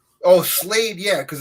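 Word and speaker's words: Slayed: Oh, Slade, yeah, because it's spelled S-L, like Slade. Right. Slade, yeah. S-L-A-Y-E-D, yeah.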